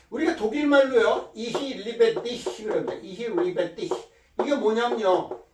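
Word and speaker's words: ich liebe dich: 이히 리베디히 그럽니다. 이히 리베디히. 이게 뭐냐면요. 이 CH 발음이 히 발음이에요. 이도 아니고 히도 아니고 그 중간만 이 리베티, 나는 너를 사랑한다 그런 뜻이거든요.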